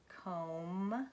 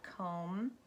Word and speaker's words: comb: says mm your MB there's some silent letters via silent as in comb we talked about that comb crumb thumb and slay e IG